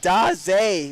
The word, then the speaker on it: Davis: It is pronounced D. We will make that adjustment moving forward. So it is Ryan Daz.